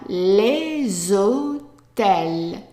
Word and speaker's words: hôtels: something else, is that when a word starts with an H, the H is silent, and it's as if it starts with an O. So what we do is we pronounce this S, or we put the two words together, and we pronounce that S as Z.